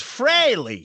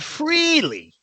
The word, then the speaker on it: Frehley: I'm Ace fry um it's pronounced fre not freely yeah for Paul people